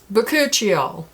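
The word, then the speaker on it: Bakuchiol: with but okay hold on i'm going to pronounce this word once correctly one moment please boccuccio boccuccio boccuccio i was way off the mark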